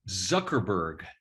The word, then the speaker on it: Zuckerberg: Zuckerberg.